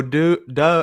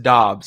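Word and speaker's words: Doubs: that makes sense in fantasy oh hey romeo do duh or it's pronounced dobbs apparently he come out and said that uh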